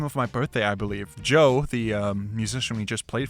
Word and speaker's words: Djo: But everyone thinks his name is spelled differently. It's D-J-O. Said Joe, but this is Change by Joe.